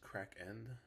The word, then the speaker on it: Cracken: said his name yet his name is cracken like Kraken but it's spelled like crack Like Cocaine that's the villain I